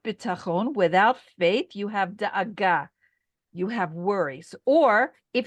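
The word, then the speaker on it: דאגה: The word for worry in Hebrew is da'aga, and it is spelled like this: Dalet Aleph Gimel Hey.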